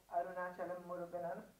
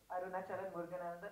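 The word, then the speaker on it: Arunachalam Muruganantham: point of view, and you've made him portray Arunachalam Muruganan. Have I said it right? Arunachalam Muruganan. Arunachalam Muruganandan.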